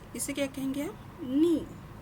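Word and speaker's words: 二: इसका रीडिंग क्या है इसे क्या कहेंगे हम नी नी ओके इी है ना इची नी ओके हां अब ये है कि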